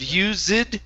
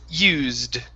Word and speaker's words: used: more time so you're you're adding in that e sound the e is silent instead of you zid it's used used there that's it that's